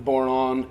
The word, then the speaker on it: bodhrán: I say Bodhrán, by the way, rhymes with moron.